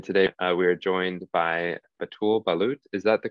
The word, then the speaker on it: Batoul Ballout: wolfe erickson and today we are joined by atul balut is that the correct pronunciation correct yeah that's good yeah amazing so